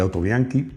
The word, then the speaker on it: Autobianchi: olvidado, que es el autobiankee primula, no autobianchi. En italiano se dice autobianke, bueno, también digo y no digo pero bueno, lo digo en italiano.